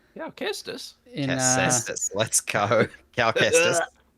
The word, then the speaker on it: Kestis: I don't know how it's pronounced. Casestis. Yeah, Kestis.